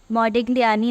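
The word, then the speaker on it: Modigliani: ये एक अजीब से नाम वाली थ्योरी है because it's hard to pronounce, but still इसका प्रोनाउंसिएशन है मॉडिग्लियानी मिलर थ्योरम।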